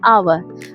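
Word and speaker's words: hour: जैसे एच ओ यू आर। इसको हम कभी भी हावर नहीं पढ़ते हैं। जब भी हम एच ओ यू आर को देखेंगे तो हम इसको प्रोनाउंस करेंगे आवर।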